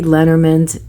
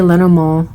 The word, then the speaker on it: Lenormand: One can pronounce it in French or in German, and they both would be right. So I say Lenormand, more of the German way because I'm German. And but you can say Lenormand, that's good, or however you want to pronounce it. I think all ways are fine.